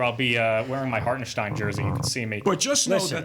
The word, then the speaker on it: Hartenstein: my favorite player in the entire league Isaiah hartstein though has made upwards of a great Gary Gary how do you pronounce his name hartenstein very nice you've been listening to ion I